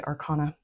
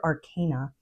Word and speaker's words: arcana: But really, the major arcana, I always want to say arcana, but I'm trying to get into the habit of saying it correctly. Major arcana.